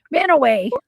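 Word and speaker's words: Mantua: I lived in uh Man, how do you pronounce that again? Manua. Manay. Manowway.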